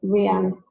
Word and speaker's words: RYAN: Yeah, I believe it's pronounced Ryan. It's spelled Ryan, Ryan, but I believe it's pronounced Reagan.